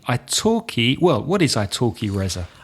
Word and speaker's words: italki: about our wonderful sponsor, italki. Italki, well, what is Italki, Reza? Italki is the name of a company with a silent L in the middle.